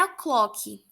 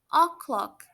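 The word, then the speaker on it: o'clock: clock tá não é a clock a pronúncia não é a clock é o clock a pronúncia do k no final é bem suave oh clock e é importante lembrar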